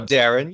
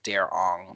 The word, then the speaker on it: Derron: And nobody ever understood it because my name is spelled Derron. So Yeah. O-N next to G. So it's the Darren G. But O-N-G together, people always thought it was Darong.